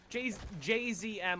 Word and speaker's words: JZM: The way to pronounce it correctly is to pronounce each of the letters. Mr. JZM. But, like, everyone says Jism because, you know, it's funny.